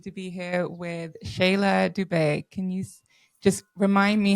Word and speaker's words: Dube: You say it pretty perfect. It's Dubet and uh Dubet in the language of a synindle in Zimbabwe means zebra.